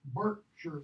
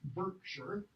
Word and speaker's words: Berkshire: Mouth of the Thames to Berkshire. It's Berkshire, by the way. It's not Berkshire.